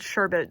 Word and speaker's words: sherbet: like an orange oh I just remembered Sherbert was a thing I'm not a sherbet guy also it's spelled sherbet so what if other countries pronounce it differently I know they're gonna